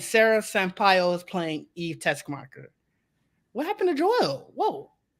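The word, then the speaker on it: Teschmacher: I never know how to pronounce her last name. Yeah, Tessmacher.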